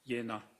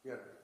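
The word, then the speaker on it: Jena: r a medical in Jenna j e n a German yeah it's pronounced yenna yenna okay thank you and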